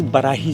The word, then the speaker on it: Barahi: This is Barahi Jungle Lodge.